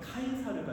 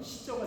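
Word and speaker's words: Caesar: 이 가이사랴라고 하는 단어가요 라틴어 발음을 하면 카이사르가 되는 거고요. 그리고 영어식 발음을 하게 되면 시저가 됩니다. 그리고 한국식 발음을 하면 가이사가 되는 것이죠.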